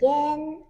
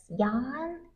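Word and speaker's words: Yann: from my YouTube channel so usually people pronounce as Yan because it's y a n n but you actually read the a as e so it's Yen if you knew Japanese currency you'll know how to pronounce Yen and that's my name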